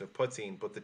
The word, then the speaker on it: poitín: The most authentic way to pronounce it is in that language, and the T would be a slender T, as I would call it, as a former Irish teacher and tutor.